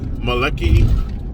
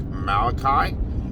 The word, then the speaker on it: Malachi: would be like uh maleki maleki and then the the conductor would be like malachi and then he'd say oh malachi you know so every every